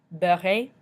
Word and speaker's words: beurré: So if you look back at beurre, at the end it's got just a regular E, so we don't pronounce it at the end. But when there's an E with an accent aigu, it makes that A sound that we've discussed before.